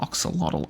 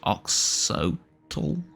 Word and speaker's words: Oxyotl: Uh as far as the skill tree is concerned, Oxyotl doesn't have It's not Oxyotl. It's Ox It's Ox Ohtl.